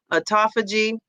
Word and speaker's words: autophagy: filling with water, but auto, how do you pronounce this, Mel?" And and Joe, autophagy.